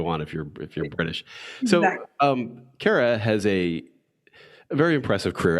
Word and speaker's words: Kara: My guest today is Kara Nortman. How are you doing? I'm doing terrific. How are you? Did I get Kara right? You got it right. Kara rhymes with Sarah.